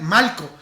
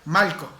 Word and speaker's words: Malco: Y sí, estoy pronunciando bien Malco. No es que me esté saliendo mi acento caribeño y que no pueda pronunciar la R. Oye chico, Malco. No, realmente ese es su nombre, Malco.